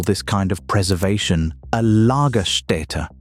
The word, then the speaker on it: Lagerstätte: Paleontologists call this kind of preservation a lagerstätte, pronounced l-h-g-e-r-s-t-ä-t-t-e.